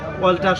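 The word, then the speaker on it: alter: একইভাবে অল্টার শব্দে দেখেন এ এল টি ই আর অল্টার। যেমন এ এর পরে এল টি আছে, যার কারণে এতে সরয় উচ্চারণ।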